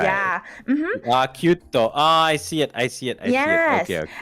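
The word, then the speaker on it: ℃-ute: was this group called Kyuto. Okay. It's spelled as C-U-T-E, and then towards the end it's a symbol of the degrees. Okay. Yes, Kyuto. It's a play on words for like 9 degrees.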